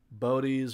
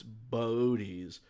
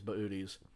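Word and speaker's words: Boötes: in stellarium but um there is an um umlaut normally over the second o so it's not bodies or boots or whatever it's booties but you will often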